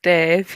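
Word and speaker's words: Damh: I discovered is it Dan Dan the bar? It's Dave. Yeah. It's spelled D A M H there.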